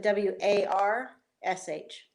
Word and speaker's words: warsh: So I asked him to spell it one time, and he said W-A-R-S-H, Warsh.